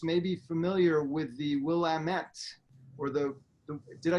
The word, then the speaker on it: Willamette: be familiar with the willamette or the did i say it correctly it's okay here's a good thing we'll lamit damn it it's a you know